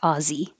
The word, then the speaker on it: Aussie: And the short version, Aussie, is spelled this way but sounds like Aussie.